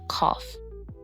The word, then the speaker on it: cough: Rough, tough, and cough. In these words, the gh sounds like an F sound.